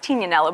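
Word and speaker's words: Tignanello: from a wine called it's actually pronounced tina nello but everyone says tignano yeah right yes but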